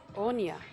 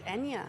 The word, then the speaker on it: Enya: I'm pronouncing it Onya, and I've obviously got that wrong. So it's Enya, as in the music star.